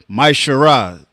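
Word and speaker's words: מעשר: It means a tenth in Hebrew, and it's pronounced Maishara.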